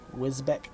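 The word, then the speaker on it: Wisbech: I'm in Wisbeck, Cambridgeshire. Cornwall. Did you guys go into the marches recently? That's like the biggest news story over here. It's pronounced Wisbeach.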